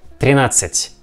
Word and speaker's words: тринадцать: We see the same combination of the letters like D and C. Therefore, we pronounce тринадцать, тринадцать, тринадцать.